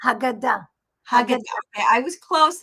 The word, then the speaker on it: Haggadah: Is that how you Haggadah. Haggadah? Haggadah. Okay, I was close in my Yeah, pronunciation.